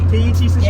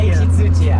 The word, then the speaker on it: 土屋圭一: Can you pronounce the name of the guy? whose wheels they are? Tsuchiya Keiichi. Keiichi Tsuchiya. Keiichi Tsuchiya.